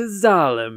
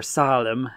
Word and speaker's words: Zalem: Welcome to Zalem, everybody. Or Salem, as it's spelled with an S, but the katakana is Zalem.